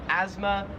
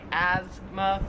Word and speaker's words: asthma: Australia it's pronounced asthma we kind of say it more like a z sound like Asma where here it's more like a like an S sound like Asma 13 is this plant